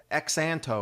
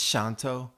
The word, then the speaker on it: Xanto: means thank you and you can see that X is pronounced as an S sound shantou in case anybody asks how do you say that X sound looks like X Anto or something it's Shonto